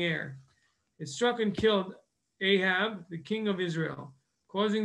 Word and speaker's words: Ahab: there in the tanaf how ahab or aha as we pronounce it was uh there